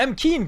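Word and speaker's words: M'Khiin: You speak to M. Keen, Goblin. McKinn? McKinn. I've been saying it wrong all this time.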